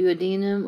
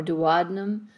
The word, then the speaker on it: duodenum: small intestines is called the duodenum or duodenum depending on who you are and how you pronounce it here's the round ligament